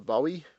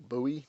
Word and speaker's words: Bowie: It's also up there, and this is known as the Bowie or Bowie, depending on how you want to pronounce that.